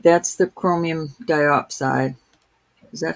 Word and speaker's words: diopside: All right, that's the chromium diopside. Is that how you say it? Yes, chromium diopside.